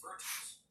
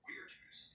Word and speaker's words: virtus: Virtues, or virtus, if you're reconstructed pronunciation categories, which means manly virtue.